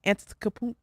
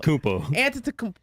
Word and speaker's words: Antetokounmpo: They put There's a no B B in there every time I'm watching them. It frustrates me so much that they can't get his name right. Antetokounmpo.